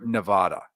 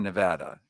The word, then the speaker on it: Nevada: Francisco and out almost near Nevada or Nevada as we now correctly pronounce it it is an amazing